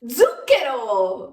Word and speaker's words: zucchero: sia la più dolce zucchero o Sugar in questa parola abbiamo il suono della z z lo stesso suono che troviamo in parole